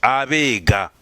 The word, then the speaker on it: Abega: Bega signifie Abega. Les Rwandais prononcent Abega. Abega en Kinyarwanda.